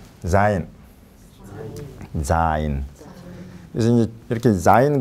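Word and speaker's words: זין: 그다음에 자인. 위에를 이렇게 하나 딱 하고 여기서 이렇게 내려오는 거예요. 이렇게. 자인. 자인. 그래서 이제 이렇게 자인 그러면 처음 나오는 이 자즈즈즈. 그래서 요 히브리어 이 자음의 음가예요. 그게 자인.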